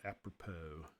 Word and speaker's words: apropos: The last thing I'm going to talk about is the command called apropos. A-P-R-O-P-O-S. The S is silent.